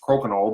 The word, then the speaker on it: crokinole: how you pronounce it it's pronounced koknal but it really doesn't